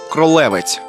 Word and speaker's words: Кролевець: на мапах того часу місцеві мешканці вимовляють слово Кролевець на польський лад Кролевець із наголосом на другий склад для розвитку міста а